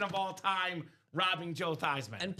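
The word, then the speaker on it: Theismann: They said, "Let's change it from the toyman so we can go for Thyman for the Heisman."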